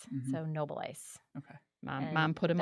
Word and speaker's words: Noboleis: up with that now it's always mispronounced Noble e Noble e but it is Noble Ice hard it is that German that I I married